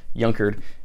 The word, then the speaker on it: Junkard: going to be my younkered boots spelled like junkard but pronounced younkered in Bourbon shell quarterman